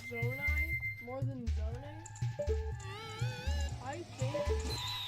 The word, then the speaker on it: Zonai: Um, so, uh, Vivian said, Joshua, are you team Zone A or Z? Yeah. Which one are you, Joshua? You heard it here folks. Joshua things is pronounced zonai but everybody knows it's people who are